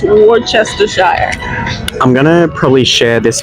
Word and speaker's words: Worcestershire: know how we say War sister Sheree or Worchester shy how you say it I threw my arms up and said it's Worcestershire sauce what the hell is worcestershire Worcestershire sauce is it's but it's pronounced Worcestershire I'm gonna probably share this video once it's